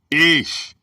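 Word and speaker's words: אִישׁ: The word is ish, pronounced ish.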